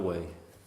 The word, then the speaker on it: weigh: Way, how do we spell way? W-E-I-G-H. But phonetically, it's way.